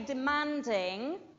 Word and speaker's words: demanding: for company manager okay demanding on the a demanding notice when I say demanding the first syllable of that word de is not not demanding but it becomes shorter and changes sound demanding all right it becomes